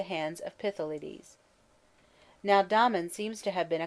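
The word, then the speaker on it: Damon: most writers state was Domon whose name they say should be pronounced with the first syllable short but Aristotle says he had a thorough musical training at the hands of pithy ladies now Domon seems to have been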